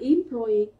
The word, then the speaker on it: employee: Chờ với từ employee, nhớ từ này của chúng ta này, nó có thể trọng âm của nó có thể rơi vào âm thứ ba hoặc âm thứ hai, từ đặc biệt này.